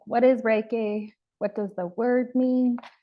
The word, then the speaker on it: Rei: Reiki is kind of made up of two small words. So there's Rei, R-E-I, pronounced Rei, and then Ki, pronounced Ki.